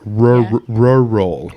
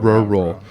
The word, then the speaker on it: Rural: I mean, I think it's just the double R's. Rural. Right? Rural.